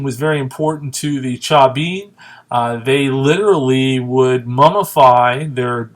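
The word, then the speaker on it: Chavín: a pretty interesting game the cha bean and that's v pronounced with the letter b established powerful and religious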